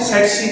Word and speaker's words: tsetse: इनमें पहला जो टी है वो साइलेंट है, इसको हम प्रोनाउंस करते हैं सेक्सी फ्लाई।